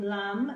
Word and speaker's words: lamb: already so we've done the silent B which would be in a word like in lamb I'll a and B for the baby sheep okay and if you say the laugh again with me you know he can't hear that B it's a silent B and last week we